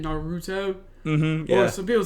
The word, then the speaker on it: Naruto: I think it's a hard U. They're saying Naruto.